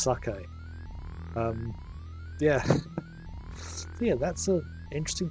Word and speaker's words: sake: all those years ago, I didn't actually know that that was pronounced sake. I read it as English, as sake. It wasn't until I played Shenmue on Dreamcast that I heard it being pronounced sake.